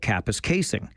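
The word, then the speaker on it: Kapuskasing: He said, yeah, but what about Kappa's casing? Which I know how to pronounce, but I remembered a story about a news anchor who had famously mispronounced it.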